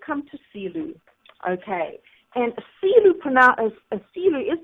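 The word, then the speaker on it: Selous: And Silu is pronounced Silu, and this is Africa's largest game park.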